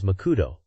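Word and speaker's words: マクド: The advert says that if you are from Kai, you can call McDonald's Makudo, but the accent is on coup.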